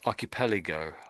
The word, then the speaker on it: archipelago: So that's pronounced as archipelago, archipelago, archipelago, arch. Archipelago. Yeah, that's it.